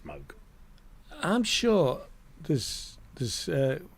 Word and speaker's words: Moog: But given that Bob's not around for us to check with, his daughter says Moog. It's Moog.